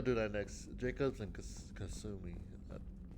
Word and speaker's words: Kasumi: Jacobs and Kasumi. I pronounced her name right.